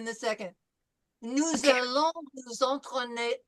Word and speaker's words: entraîner: So the first one is nous allons nous entraîner à. nous allons nous Antoine, Okay, remember en is en. Entraîner through the nose, not en.